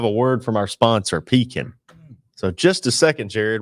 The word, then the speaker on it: Pekin: been doing business with pekin insurance for several years not peaking not pecking as some of our customers often mispronounce it pekin insurance has a